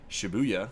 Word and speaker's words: Shibuya: Taking place in modern-day Tokyo and featuring real-life locations such as Shibuya, which I always pronounce like booyah, and I can't pronounce that word.